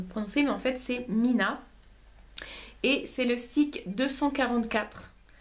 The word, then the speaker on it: Mina: en fait ce produit de alors ça se prononce Mina mais il le il écrivent trois Ina Tha donc au début je savais pas trop comment le prendre mais en fait c'est Mina et c'est le stick 244 de no rose